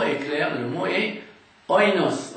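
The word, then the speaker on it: οἶνος: D'ailleurs, le mot est clair, le mot est oinos en grec, oinos ou bien inos, on dirait aujourd'hui, d'après la prononciation moderne.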